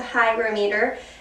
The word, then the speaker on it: hygrometer: we do have a hygrometer. I keep saying it wrong. It's a hygrometer, and also has a thermometer on it.